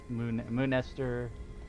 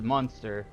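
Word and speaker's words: Muenster: Moonester. I don't know how you, I've always said it as Munster.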